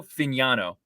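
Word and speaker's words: Fagnano: I want to make sure I'm pronouncing his name correctly. Joe Fignano is his name.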